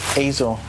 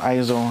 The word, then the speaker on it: Eizo: the uh and that's the correct way to pronounce it by the way Azo not ISO a lot of people mispronounce it okay so